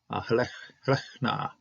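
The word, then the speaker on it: לֵכְנָה: So lechna, okay, lechna. I was trying to pronounce the hey, which isn't there.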